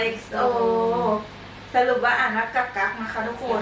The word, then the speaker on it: กักกั๊ก: ไว อ่า XO สรุป ว่า อ่าน ว่า กัก กั นะ คะ ทุก คน ก ก ไม่ ได้